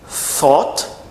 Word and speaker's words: thought: thought e thought tá não pronunciar o som de th com T nem som de F tau é o passado